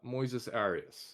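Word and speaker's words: Moises Arias: that's how you say it you're close uh Moises Aras yeah yeah um he plays Norm uh short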